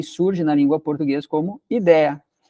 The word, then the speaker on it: ideia: No inglês é idea, aí surge na língua portuguesa como ideia. Só que daí a gente começou a colocar aquele sonzinho do i semivocálico, ideia, ideia, ideia, e aí surge o ideia com acento.